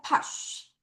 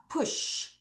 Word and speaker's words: push: 따라서 push. 다시 push. 근데 얘가 우 발음이 더 많이 나와서 push.